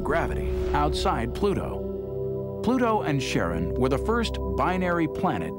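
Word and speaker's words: Charon: Christy suggested the name Karen after the fairyman of Pluto's underworld in Greek mythology, but preferred to pronounce it Sharon, more like his wife's name, Charlene.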